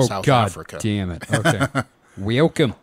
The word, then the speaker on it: Welkom: Welcome. That's spelled Welkom.